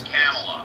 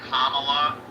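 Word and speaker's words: Kamala: I ever expected Bend it's camela because I never I never knew but then when I when I was watching part of the uh the DNC they all said so that's how it's pronounced did you watch the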